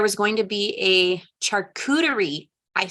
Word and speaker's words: charcuterie: Tonight there was going to be a charcuterie. I said it right. Did you guys know it was charcuterie, like cooties?